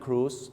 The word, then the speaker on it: cruise: นะ ฮะ ั้น ครับ ต้อง ออก เสียง ว่า อะไร Dinner Cruise นั่น เอง ครับ นะ ฮะ Cruise